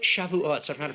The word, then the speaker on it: Shavuot: He comes up to me, even the way he pronounces it, what's that holiday you have, suck it? Sukkot, Russell. It's not how you say it. It's like that other one, shove it, Shavuot.